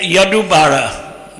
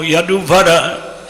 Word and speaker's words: Yaduvara: So there was a movie made by Yadubara. I don't know how many of you know Yaduvara is the correct pronunciation.